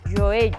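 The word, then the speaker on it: joelho: Xeonllo en portugués é moi difícil de pronunciar. Joello, porque ten o fonema G e a lateral palatal.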